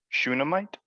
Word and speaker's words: Shunammite: Shunammite?